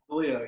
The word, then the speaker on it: Deleo: We are with New Jersey Institute of Technology, Coach Deleo. Did I pronounce that right? Deleo, yes.